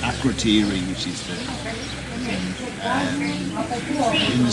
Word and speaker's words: Akrotiri: Because I've been reading a book about Akrotiri. Pronounced right, Akrotiri, which is the in